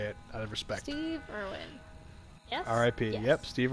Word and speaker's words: Irwin: Steve Irwin. Yes? R.I.P. Yes. Yep, Steve Irwin. R.I.P. Irvin. Okay, I said Irwin. It is Irwin. I thought it was Irvin. It's not Irvin.